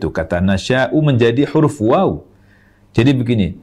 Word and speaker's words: نَشَؤُاْ: nasy seperti ini tulisannya cara membacanya Nasya huruf hamzah di akhirnya meskipun numpang di wau tetap dibaca Hamzah tetap dibaca Hamzah bersukun karena kita berhenti abaikan